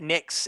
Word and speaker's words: Nyx: Yeah, Nix. Nix. Is that how Yep. we pronounce it?